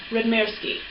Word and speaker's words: Radmirsky: Did I pronounce that right? Yeah, Radmirsky.